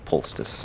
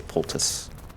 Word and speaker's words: poultice: Some people say poultice, but there's no S or C before the T, so I don't say poultice, I just say poultice.